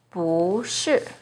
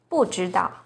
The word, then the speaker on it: 不: For example, 不是, 不会, 不错. When 不 is followed by a non-fourth tone, which are the first, second, and third tones, it's pronounced as the fourth tone, as in 不知道, 不行, 不好.